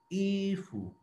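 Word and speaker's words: 衣服: फ ई पहले वाले पहले वाला फर्स्ट टोन है उसको हम सही तरीके उसका हक अदा करके स्ट्रेट लाइन में उसको प्रोनाउंस करके फिर लास्ट वाला जो फू है उसको नॉर्मली फू ही पढ़ेंगे जैसे कु फू में फू तो ई फू ऊपर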